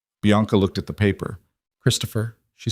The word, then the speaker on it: Christopher: "Christopher," she said quietly. "The H is silent. You don't hear it. You just have to know it's there.